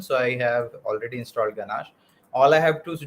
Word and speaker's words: ganache: do that is called ganache okay not ganesh ganache so it's it's spelled g-a-n-a-c-h-e okay according to whatever